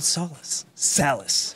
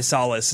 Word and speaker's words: Salas: Yeah, if you want the ethnic actual pronunciation, it's Salas. Yeah, it's South American, but it's been Americanized as Salas, and I just rolled with it.